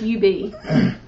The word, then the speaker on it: Ub: It's UB.